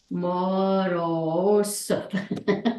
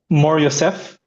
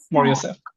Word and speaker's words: Mor Yosef: it's pronounced Mor Yosef. Oh, Morosef. Ah. It's like Mor and Yosef just together. Mor Oh, Yosef. Mor Yosef.